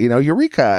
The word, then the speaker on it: Eureka: But I needed it to be able to be pronounced American way. So I just decided to name myself after the Eureka vacuum cleaner that we had at our house. I was like, and people can say it, Eureka.